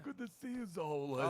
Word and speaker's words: Zola: Like Zola. Z-O-L-A. It rhymes with areola.